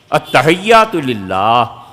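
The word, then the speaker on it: التحيات: التحیات للہ اصل تلفظ یہ ہے. یہ اتا جو پڑھتے ہیں نا، التحیات للہ، یہ اتا ہے کیا یار؟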